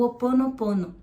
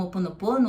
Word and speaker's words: Ho'oponopono: antes da pandemia o Ho Oponopono. Algumas pessoas falam Ho Oponopono, outras Ho'oponopono, se escreve com H no começo, e acho que vale a pena transmitir para vocês fazerem esse exercício.